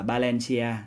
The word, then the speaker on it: Valencia: Ví dụ như là các bạn thấy trong tiếng Tây Ban Nha những cái từ mà bắt đầu bằng chữ V á, thì được ra đọc nó là chữ B. Đó, ví dụ là Valencia thì phải đọc là Valencia.